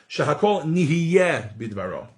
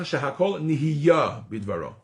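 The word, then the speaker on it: שהכל נהיה בדברו: actually in this book, Shehakol nihiyeh bidvaro. Right? And Sephardim, again, for the most part, pronounce this bracha Shehakol nihiyah bidvaro. So with a kamatz instead of a segol for those Hebrew aficionados.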